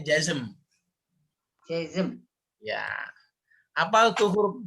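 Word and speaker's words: جزم: ada jazm. Bacanya jazm.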